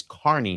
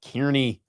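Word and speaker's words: Kearney: It's Carney, not Kierney.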